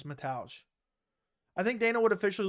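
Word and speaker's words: Mateusz: Metals camera I mean I always say it wrong I want to say Matthias but it's metage I think Dana would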